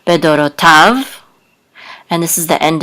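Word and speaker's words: בְּדֹרֹתָיו: And this is an etnachta, so the accent is on the last syllable, bedorotav.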